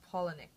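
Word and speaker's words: Palahniuk: being fight club by Chuck penck and that's pronounced penck guys okay I watched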